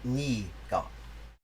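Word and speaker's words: 네가: between i and you nega has come to be pronounced most commonly knee got sometimes it's even written that way the bad teacher says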